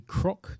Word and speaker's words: Kroc: Now, Larissa is the Assistant Professor of Conflict Resolution at the Kroc Institute for, that's Kroc, not Croak, is it? Yeah, it's Kroc.